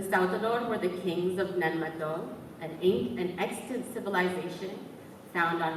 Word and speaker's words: Nan Madol: The Saltador were the kings of Nanmato, an extant civilization found on my island. I am a direct descendant of them. I invite everybody to Google Nanmato so you can visualize it as I read.